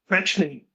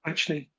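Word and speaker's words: Quaeschning: Boston, Fetchney, that's how you say his name, by the way, Fetchney.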